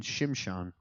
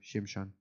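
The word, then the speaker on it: Shimshon: interesting stories and then shimshan Samson that's how his name's pronounced in Hebrew shimshan Samson it's terrible he's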